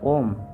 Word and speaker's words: ॐ: ओम के उच्चारण में अ 10% बोला जाता है, ऊ 20% बोला जाता है तथा म 50% बोला जाता है।